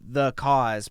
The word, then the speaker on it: Thuh Kôz: name of your band it's pronounced the cause but it's Thu h